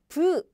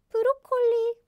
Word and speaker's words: 브로콜리: So we use the English word directly as in 브로콜리. Broccoli. Broccoli. So we use the English word directly, so it's easy for you to remember, right? Just pronounce it in Korean way.